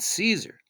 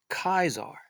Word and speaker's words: Caesar: And he wouldn't have said Caesar. He would have said Kaiser. So there was no soft C. It would have been more of a hard K.